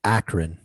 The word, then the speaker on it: Akron: it's Akron.